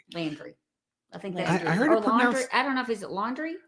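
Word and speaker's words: Laundrie: a fiance named Brian laundry Landry I think I don't know if is it laundry I heard a podcast today the laundry pronounce it like laundry like like the laundry yeah um and so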